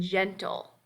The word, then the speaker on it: gentle: Then we have the soft G, J, as in gentle. Again, that may sound to our ears like a J sound, but in all these words, that soft G is the initial letter.